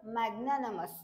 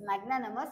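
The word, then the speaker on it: magnanimous: word मॅग्ननमस okay मॅग्ननमस तर काय आहे प्रोनन्सशन मॅग्ननमस आणि स्पेलिंग काय आहे त्याची एम एन एन आय एम य एस मॅगनमस असे या प्रोनन्सशन आहे तर याचा अर्थ काय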